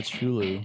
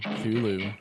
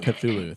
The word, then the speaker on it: Cthulhu: I spy a Chulu. Cthulhu. How do you say that? Cthulhu. Cthulhu, thank you.